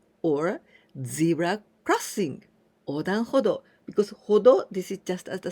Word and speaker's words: 歩道: Now this one, 歩道, we pronounce this the same do.